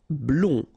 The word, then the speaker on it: blond: Blond. Final D not pronounced.